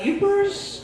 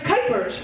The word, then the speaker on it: Kuypers: RS I've gotten cers cupers creers Keepers and like it's kypers rhymes with Hyper seems kind of fitting